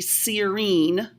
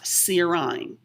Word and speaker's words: serine: to memorize this but this would be serene not serine so notice serine is